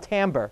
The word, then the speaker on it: timbre: what creates something called timbre. It's spelt timbre because that's just kind of how the music world works. Nothing's ever right. But anyways, but it's called timbre, and that's the reason